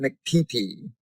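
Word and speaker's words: MCPP: And then this huge Marine leaned over to me and said, "We pronounce it McPee, and we don't laugh."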